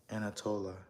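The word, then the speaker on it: Antalya: Anatola. But it's spelled A N T A L Y A.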